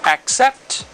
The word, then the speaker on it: accept: K, like this. So, it's AK. Hasta aquí, hasta la primera C se pronuncia AK. Y después en la segunda C, que se va a pronunciar como un sonido, como sería un sonido de una letra S en español, sería aproximadamente así. Accept. Accept.